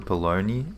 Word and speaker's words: bologna: hate how you guys call it baloney and then you spell it like bologna I I I will